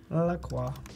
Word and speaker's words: La Croix: La Croix. That is how you pronounce it, by the way. It is, it's just like knows. Détroit, La Croix.